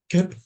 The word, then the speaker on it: Koepp: Koepp, cool. Koepp, Koepp. It's Koepp.